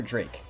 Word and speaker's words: Drek: Do you pronounce it Drek or Drake? I had a friend in high school who spelled his name D-R-E-K, but he pronounced it Drake, which is pretty cool.